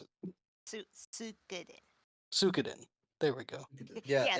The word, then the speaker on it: Suikoden: Yeah, I'm going with, I can't remember how to pronounce it. Suikoden. Suikoden.